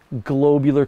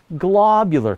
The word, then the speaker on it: globular: In the past, I used to call them globular clusters, but I got all kinds of heat from my astronomer friends, so I half retrained my brain to call them globular clusters. But then I dug into the proper pronunciation, and it turns out that both methods are fine.